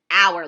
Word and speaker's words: hour: lasts 1 hour, but our, like it belongs to us. So there's our, like the time, is spelled H-O-U-R. Our, like it belongs to all of us, is spelled O-U-R.